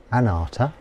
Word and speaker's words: anattā: faculties of Anita nduka anata spelled a-n-a-t-t a with a line over the a which means it's pronounced r as opposed to a and I misspelled yesterday